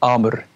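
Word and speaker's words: Àmr: Is it Amar or Amir? Yeah, Amar.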